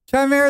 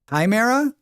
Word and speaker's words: chimera: I see it as like chai like chai timera with a K. Chimera. It's always heard it with a hard K at the start.